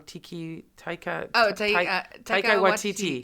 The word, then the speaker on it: Taika Waititi: I always get his name wrong. Taika Waititi.